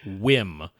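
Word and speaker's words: WiiM: a Wy okay so supposedly this Wii capital M company pronounces it whim that it's a y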